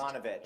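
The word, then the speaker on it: Evanovich: Number 5 is, this film is an American crime comedy based on the 1994 Janet Evovich? How do you pronounce that? I'm so I think confused. it's Ivanovich. Ivanovich sounds much better.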